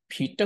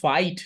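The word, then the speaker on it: Vite: ভিটটা কি জিনিস, এই যে ভিট হচ্ছে একটা বান্ডলার, ভিটটা হচ্ছে ফ্রন্ট এন্ডের, এই যে ওয়েব প্যাক যেরকম আগে ছিল ওয়েব প্যাককে রিপ্লেস করে ফেলছে ভিট। এটার উচ্চারণ কিন্তু ভাইট না, এটার উচ্চারণ হচ্ছে ভিট।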